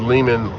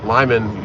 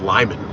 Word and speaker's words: Lyman: should i guess yeah when you said lehman lyman you said it wrong yeah i keep saying lehman it's lyman that's where i got the